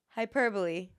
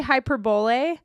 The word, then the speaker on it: hyperbole: Yoo like yea huh this one I always I used to say wrong all the time it's I have to spell it to you that's the problem or I going to show it to you hyperbole see you said it right I used to say hyperbole hyperbole hyperbole hyperbole that one's yeah